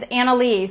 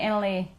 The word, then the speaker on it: Annalie: My daughter's name is Annalie, so I pronounce it Annalie.